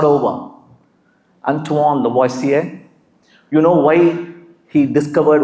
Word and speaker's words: Lavoisier: We have been pronouncing him Lavoisier, Antoine Lavoisier, because that's how we do it. His name is supposed to be pronounced Antoine Lavoisier.